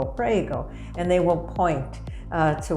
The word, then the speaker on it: prego: in a certain place and say pray go prego and they will point